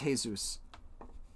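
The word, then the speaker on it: Jesús: couple jesus which is basically jesus in spanish but it's pronounced jesus and uh in fact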